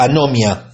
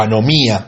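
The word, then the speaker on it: ἀνομία: Esta frase, hacedores de maldad, en griego es la palabra anomia, o anomía, con acento en la i.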